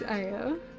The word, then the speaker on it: Aya: But that assumes that you're pronouncing my name Aya. Which I guess you guys all do. You all pronounce my name Aya. Technically, the way I've been pronouncing it my entire life is Aya. Aya is how you meant to pronounce it. Aya is how it's pronounced, Japanese. Because it's, usually a Japanese name. But, my dad named me after a video game character. So my name is Aya.